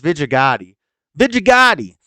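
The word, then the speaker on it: Vijaya Gadde: of them is vijigati I'm gonna pronounce it right I know everybody I think a lot of people jokingly pronounce it wrong but it's but they're not actually joking they don't know how to pronounce it it's Vegeta Gotti and uh numerous other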